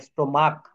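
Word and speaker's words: stomach: সহজ হয়ে ধরা দিবে সিঙ্গুলার নাউনের শেষে সি এইচ এর উচ্চারণ চ এর মত না হয়ে যদি ক এর মত হয় তাহলে ইয়েস যোগ না হয়ে শুধু এস যোগ হয় যেমন দেখেন স্টোমাক এখানে কিন্তু চেসে না শেষে ক ব্যঞ্জন বর্গের প্রথম অক্ষর ক এর মত হয় অর্থাৎ স্টোমাক স্টোমাক্স দেখছেন এই শব্দগুলো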